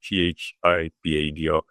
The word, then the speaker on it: Thibado: It's spelled Thibado, t h i b a d o, but um Thibado is is the pronunciation.